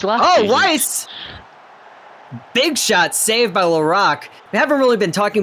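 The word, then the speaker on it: Laraque: i do not but it's l-a-r-a-q-u-e i think it's laurel wouldn't it be lorac lorac there it is see there's my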